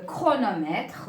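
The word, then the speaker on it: chronomètre: a le son k mais avec Ch il y en a c'est H qui se prononce que exemple alors je vais écrire comme chrono logique gros logis ou bien chronometre ou bien le chorale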